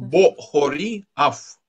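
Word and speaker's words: בָּחֳרִי אַף: Вот хет имеет огласовку хатав-камац, которая читается как ультракраткое о, да?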